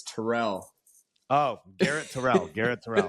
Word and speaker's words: Terrell: It's pronounced Terrell in my family.